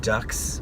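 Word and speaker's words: Dux: We have ducks, which is kind of funny, but it's spelled D-U-X, and it's funny.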